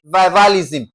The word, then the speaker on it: revivalism: What is the first syllable? Okay? In this case, we are having what now? v i, vi, okay? Revivalism.